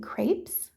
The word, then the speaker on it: crêpe: I'm going to be making crepes and the French pronunciation for that is more like crepe. Um the s is silent even if it's plural when it's French.